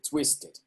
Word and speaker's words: twisted: flow sort of naturally so even though here is not a verb it's still pronounced the same way twisted ted always dead and dead don't forget your two new friends dead and dead so you should say here twisted okay ah this this